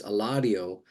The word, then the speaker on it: Eladio: your name I finally I used to say Eladio and and and that's probably closer to the right pronunciation but people would not get it and I've done it enough where I go oh no my name's Eladio and people oh okay they get it better when I pronounce a hard D instead of a soft D and then you know